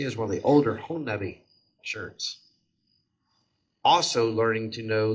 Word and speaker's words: Honobia: There's several ways to pronounce it. Honobia. Honobia, I've heard that before. But Honobia it's a Choctaw word.